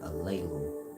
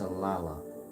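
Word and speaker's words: Alalu: a l a l u aala but people pronounce it a Leu but it's aala different than Allah the same God that y'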